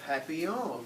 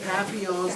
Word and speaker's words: papillon: hope we get a papillon like our neighbor's dog you say it like a happy young and in french that